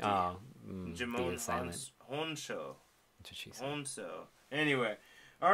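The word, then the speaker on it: Djimon Hounsou: I think you don't pronounce the D. Oh, Jimon Honso.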